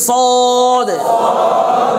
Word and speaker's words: صاد: বলছিলাম যে মোটা হরফ এই মোটা হরফ উচ্চারণের সময় ঠোঁটটা কিছুটা কি হয় গোল হবে কেমন তাহলে উচ্চারণটা দেখবেন